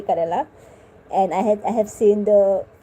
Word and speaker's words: Kerala: had seen videos from Kerala. I know I pronounced that bad. People have tried to correct me to pronounce Kerala good. I can. This is it, okay, Kerala.